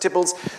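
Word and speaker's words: Theobalds: Visiting Lord Burley at Tibbles, which you see there on the map, spelled Theo Balls, but pronounced Tibbles.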